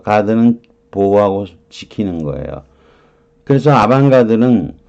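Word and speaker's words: avant-garde: 아방가드. 아방가드. 그죠? 브로식이라니까 아반트의 t는 발음이 안 될 거고 아방가드. 가흐드 이렇게 되겠지만 뭐 우리가 아방가르드라고 보통 그러잖아요. 가르드 이렇게 하죠.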